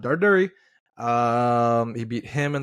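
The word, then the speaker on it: Darderi: Darduri. Darduri. He's Italian. That's how you pronounce it. He's not Punjab. Darduri.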